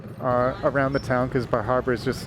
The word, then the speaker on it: Bar Harbor: days we stopped in Bar Harbor Bar Harbor or I think it's pronounced bahaba I saw a sign that pronounced it and it was baa Haba so we went to